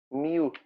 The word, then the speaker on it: mu: Dice que es el U. El mu. Mu. Se pronuncia Mu, perdón.